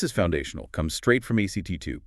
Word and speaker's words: ACT2: Comes straight from ACT2. Pronounced act response can be slow.